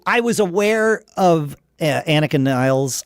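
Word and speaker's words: Nilles: And and I I was aware of Anakin Niles. I believe Getty pronounced it Anakin Niles. I thought it was Nillis, but uh I I I'll go with with Getty's pronunciation.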